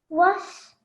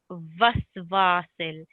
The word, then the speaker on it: و: Was. Was. You recited it correctly. Often it's mispronounced or wrongly said as a v, like vasvasil. So it's like a letter W, wa, as you rightly said, was.